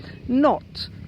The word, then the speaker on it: knot: K so what are other words starting with a silent K not for example not so